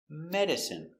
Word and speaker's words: medicine: Medicine. Stress on the first syllable, medicine.